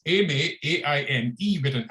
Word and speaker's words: Aimé: I noticed you were struggling with the pronunciation, so it's Aimé, A-I-M-E, with an accent to the end, and an accent to the end is, in French, is pronounced A, so it's Aimé and Césaire.